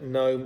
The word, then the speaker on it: gnome: G and K are silent if they come before N. Now these words would sound the same without the first letter, gnome and knight.